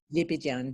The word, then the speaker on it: Lebedyan: Lebedyan, yes.